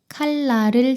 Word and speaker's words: 칼날: 칼날을 조심하세요.